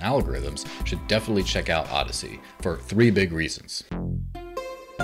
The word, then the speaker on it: Odysee: on the market and it's called odyssey spelled o-d-y-s-e-e yeah i'm gonna take